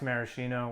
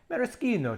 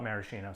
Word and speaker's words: maraschino: One, it's not pronounced maraschino. When we were in Italy, we learned it's maraschino cherries, but we're in America, so I'm going to call it maraschino, so I apologize to the 0 people that watched it.